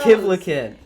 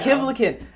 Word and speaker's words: Kivlichan: Kivlichan. Yeah, there you go. Kivlichan.